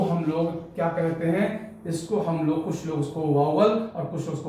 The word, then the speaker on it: vowel: देखो, मैं बताना चाहूंगा कि जो या अगर आप इसको पढ़ते हो वोवेल, तो मैं बताना चाहूंगा कि यू आर प्रोनाउंसिंग रॉन्ग, आप गलत इसका प्रोनाउंसिएशन करते हो। इसका सही प्रोनाउंसिएशन है वावल।